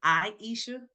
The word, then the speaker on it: Aisha: I Um, guess I probably should have told you it is Aisha.